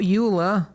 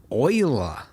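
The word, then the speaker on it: Euler: Uh, we need to add shift a utilities rotation rotate, not uler. Oiler there. Yes, I know they went with the weird pronunciation.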